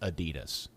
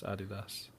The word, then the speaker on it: Adidas: So MLS obviously sponsored by Adidas. Part of the contract that's pronounced Adidas here in the United States, Dan. The guy's name was Adi Dassler. It's Adidas.